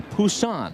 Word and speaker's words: Busan: Busan, I believe is the proper pronunciation.